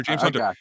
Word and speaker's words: James Hunter: His name rhymes with punter. I think punter, like the guy who kicked the football. Is it Flames Punter? Flames Punter? No. No. It's James Hunter. James Hunter.